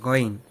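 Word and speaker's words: غين: এরপরে যে হরফটা আমরা শিখবো সেটা হচ্ছে গইন, যেটা বাংলায় আমরা বলছিলাম গয়ের মতো।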